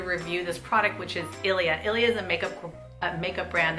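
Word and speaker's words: Ilia: let me just say it correctly it's the Ilya super serum skin tint broad-spectrum SPF 40 you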